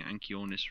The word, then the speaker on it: Anchiornis: Because the CH isn't supposed to be pronounced as chi or ki. It's slightly he. That's why it's also Anchiosaurus. Yeah.